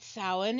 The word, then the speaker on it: Samhain: Okay, yeah, first it's pronounced Samhain, like Michael just said.